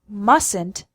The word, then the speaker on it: mustn't: also note the pronunciation the first t in mustn't is silent no obligation it's not